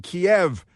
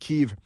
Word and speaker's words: Kiev: of uh protesters killed by his forces in Kiev which is not pronounced Kev.